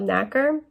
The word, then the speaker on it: nacre: So the mollusk secretes a substance called nacre. I think that's how you say it, but it's spelled N-A-C-R-E.